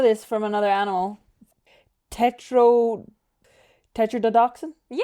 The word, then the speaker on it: tetrodotoxin: Oh, I would love to pronounce Let's see this. Oh, I actually know this from another animal. Tetro tetrodotoxin?